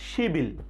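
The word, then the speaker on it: 십일: যদি আমরা 10 তারিখ বলতে চাই তাহলে কিভাবে বলবো শিব ইল, কিন্তু উচ্চারণ হবে কি শিবিল, শিবিল, শিবিল 10 তারিখ।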